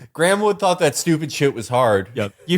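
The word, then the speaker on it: Graeme Wood: was a bar y grahamwood thought that stupid was hard y you you read that sentence and you know that that is spelled g r a e m e it's it's a colonial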